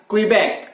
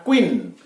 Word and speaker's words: Quebec: Huruf Q mestinya diucapkan Quebec, akan tetapi diucapkan Queen.